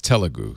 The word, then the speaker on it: Telugu: part by the way we've been saying it wrong it's telu sorry about that t sorry